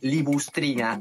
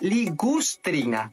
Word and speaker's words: ligustrina: esto que está acá no se llama libustrina se llama ligustrina porque viene de una plantita que es el ligustro ahora esto que usas